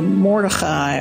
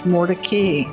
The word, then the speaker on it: Mordecai: jews generally would say mordechai or mordecai but in raleigh the family has been known for years as mordecay today's generation of the